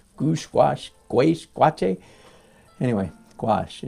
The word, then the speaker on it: gouache: wash twice watching anyway gouache is the his is the official pronunciation rather unfortunate name when